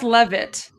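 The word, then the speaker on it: Leavitt: It's it's pronounced Levit. Levit.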